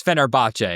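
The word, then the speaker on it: Fenerbahçe: And I should say Zena it's Fenerbach if we're going in our Turkish pronunciation.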